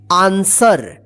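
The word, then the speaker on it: answer: देखिए इसको क्या पढ़ेंगे आंसर ए एन एस डब् ई आर आंसर देखिए यहां पे यहां पे भी डब्लू क्या है साइलेंट रहता है ठीक है आंसर का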